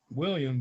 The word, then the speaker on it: William: The H is silent though. Oh, dang it. So do I put a line over it or something like that? No, you just say it, William, but without the H.